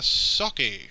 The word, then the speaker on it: Socke: Today we're going to be casting a game between Goody and Socke. Socke. I don't think it's like the rice wine sake. I think I would just pronounce it sock.